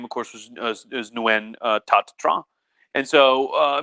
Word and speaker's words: Nguyen: new year the patriot now you can also call him nuen that's how technically how you pronounce his nun the patriot um and